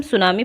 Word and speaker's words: tsunami: इसमें T silent होता है तो इसलिए इसे हम सुनामी पढ़ते हैं, तो सुनामी नहीं पढ़ेंगे।